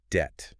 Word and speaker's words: debt: It got that B in the spelling purely because the Latin word it comes from is debatum. Ah, debatum. Right. But the English way of saying it never actually had a B sound.